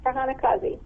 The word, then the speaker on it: Farhana Qazi: We're talking this evening with Farhana Qazi. Am I pronouncing your name correctly? I want to make sure I got that right. Yes, Farhana Qazi.